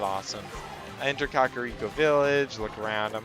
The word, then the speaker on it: Kakariko: This is nothing like the Kakariko I know, but I used to pronounce it Kariko, by the way. If you think it's pronounced Kariko, it's actually pronounced Kakariko.